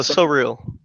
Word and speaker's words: Surreal: hey, is it SS Surreal or is it Surreal or am I pronouncing that right? Oh, so real. Surreal.